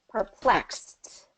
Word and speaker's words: perplexed: the ending plexed perplexed because we perplex is the root word X and that's going to be a voiceless sound at the end so we're going to put the voiceless T at the end for the Ed ending okay uh perplexed perfect